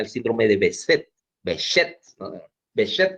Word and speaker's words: Behçet: Behçet creo que se pronuncia eso. Es una C esa C que tiene una colita abajo, es un apellido turco.